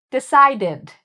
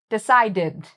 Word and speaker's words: decided: Okay, decided. decided. This has the id sound, decided.